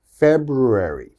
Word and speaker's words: February: confused with this okay now let's focus on the f this is an f sound your teeth should touch your lip and this is a b sound okay so we should think of this as fat february february february okay it's